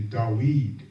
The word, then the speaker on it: David: That's why the scripture says in Psalms, and the actual pronunciation for David is actually Dawid.